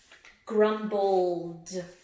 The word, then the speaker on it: grumbled: Grumbled. That one's got the D sound.